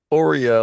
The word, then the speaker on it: Aura: Ora, like Oreo cookie, but Ora.